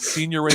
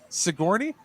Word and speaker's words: Sigourney: And my mom was like, no, you're saying it wrong. I'm like, what? I'm like 10 years old. I'm like, that's not how you... Her response is, yeah, the G's silent, right?